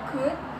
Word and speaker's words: could: Jadi contohnya yaitu should, ya, L-nya tidak diucapkan. Kemudian ada could dan would.